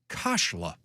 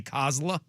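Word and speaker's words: Khosla: The last name is pronounced with a silent o in the first syllable rhyming loosely with molla or rashla.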